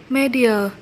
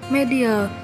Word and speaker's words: media: Và danh từ số 2 được đọc là media, nhấn âm 1. Mình xin nói lại là danh từ số 1 đọc là otitis, nhấn âm 2. Và danh từ số 2 được đọc là media, nhấn âm 1.